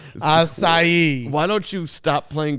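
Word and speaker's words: açaí: golf course you're still not saying it right aai aai why don't you stop playing golf courses that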